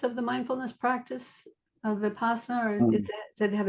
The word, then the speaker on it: Vipassana: Upassana. Is that the right way to say it? Vipassana. It's called Vipassana in Vipassana.